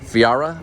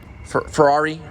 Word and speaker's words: Ferrari: electric Porsche Porsche is German Lamborghini is Italian Fiera or how do you say it Ferrari Ferrari is Italian Lamborghini is Italian um that's